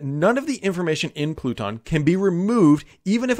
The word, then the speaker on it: Pluton: way to fix that enter pluton or pluton i believe is how you pronounce it i have a